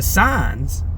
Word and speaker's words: sign: able to see the signs CU sign g is silent is a sin it's